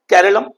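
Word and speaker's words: കേരളം: कहता है मलयालम में लोग हमेशा से अपने राज्य को केरलम बुलाते आए हैं। अंग्रेजी में इसे केरला कहा गया जो एक बाहरी उच्चारण था।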